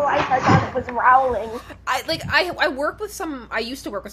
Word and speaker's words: Rowling: midst of it, Rowling, whose name I finally learned how to pronounce the proper way, even though every instinct in my heart wants to say Rowling. But, Rowling. It is. I knew it was Rowling.